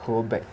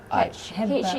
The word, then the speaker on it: Hebei: Yeah, Hebei. Hubei. Hebei. Yeah, Hebei. How to spell It it? means north of river. North North or of river? river. Yes, Hebei. To spell it? Hebei.